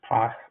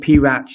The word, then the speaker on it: PRACH: So some people call it PRACH, some people call it PRACH, and I'm sure there's plenty of other pronunciations as well.